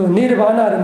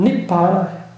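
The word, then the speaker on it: nibbāna: 그 니르바나를 마찬가지예요. 산스크리트는 니르바나를 하는데 발리어 발음은 니바나예요. 니바나.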